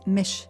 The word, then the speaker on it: Mich: my name which is spelled m-i-c-h short for Michelle it's Mish with an ish i s h and